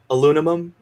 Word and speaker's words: aluminum: So like in British, they purposely pronounce aluminum differently than us.